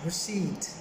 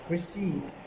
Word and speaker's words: receipt: word for is below this is pronounced receipt receipt p is silent in thou right people